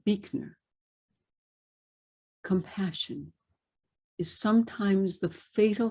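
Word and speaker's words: Buechner: and finally from frederick probably originally pronounced birdner b-u-e-c-a but become but has become anglicized to beakner compassion is sometimes the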